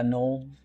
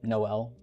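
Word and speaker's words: Nol: Null. I think some people might assume Noel, but null is usually how that's said.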